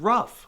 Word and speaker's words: rough: be said as R why does the G make an F sound in the word rough and why on Earth